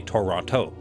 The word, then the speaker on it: Toronto: is our main city I say Toronto other people I know for a fact would say Toronto mhm I would we